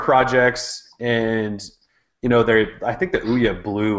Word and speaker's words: Ouya: No, it's Ouya. And then we have this new one today called the Game Stick. So they're Kickstarter projects, and I think the Ouya blew like most Kickstarter records out of the